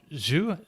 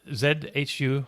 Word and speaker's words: Zhu: Tesla China, President Tom Zhu, Z-H-U. I'm not sure. Tom, do you know how to pronounce that? I think it's Zhu.